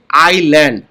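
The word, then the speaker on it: island: আইল্যান্ড। এই এস টাকে silent S এটা উচ্চারণ হবে না ইংলিশে সারন্ডেড সারন্ডেড মানে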